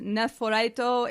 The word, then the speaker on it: Nephrite: Nephrite is technically pronounced Nephorito in Japanese.